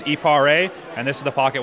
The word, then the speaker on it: Eparé: And finally, the correct pronunciation. Our company name is Eparé, and this is the Pocket Wine Aerator.